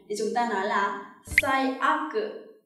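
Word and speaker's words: 最悪: Bản thân cái từ aku này khi đứng một mình được đọc là warui, đúng không nào? Và trong trường hợp này khi ghép một dự án khác thì nó được đọc là aku.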